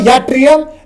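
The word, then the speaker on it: yttrium: सो इट्स अ यट्रियम इट्स यूट्रियम।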